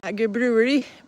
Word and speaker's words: Ægir: How do you pronounce A-E? Is one word, one letter. It's Ægir Brewery.